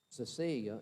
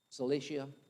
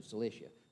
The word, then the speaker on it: Cilicia: born and raised in tarsus of cecilia if that's how you say it how you say it i always ask cilicia thank you cilicia i said that this